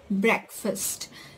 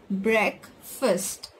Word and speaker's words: breakfast: as pronounced as breakfast it's pronounced as break first okay guys so the